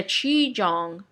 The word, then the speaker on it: qigong: This kind of change is similar to the change when a qigong, I think that's how you pronounce it.